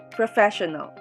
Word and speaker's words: professional: syllable literature next word professional pro first syllable fair second syllable show third syllable null fourth syllable the stress is in the second syllable professional last four syllabic word